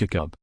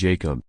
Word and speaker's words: Jakub: say his name, and Vrana insists he doesn't have a preference between the Czech Ya-koob, or the Americanized Ya-koob. He's also added Ya-koob and Jake as acceptable variations.